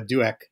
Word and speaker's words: Douek: no no worries uh it's a duac easiest way to think about it is pretend the O isn't there gotcha okay I have